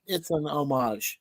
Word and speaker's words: homage: No, the H is silent. It's kind of like the K. Kind of like the K in knife. Okay, you don't say knife. I know. It's an homage.